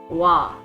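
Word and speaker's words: は: So particle ha is actually wa, pronunciation wise. It's written like this, but it's read as wa when you're using it as a particle.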